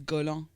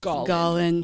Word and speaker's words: Gollin: Des fois, il y a du monde qui disent Golan. Oui. Yeah, c'est Fake news. oui, c'est ça, c'est vraiment la prononciation once and for all. Gollin.